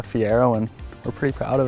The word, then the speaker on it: Fiero: They're thinking say Fiero, they think you're pronouncing Ferrari wrong, right? But no, it's a Fiero and we're pretty proud of it.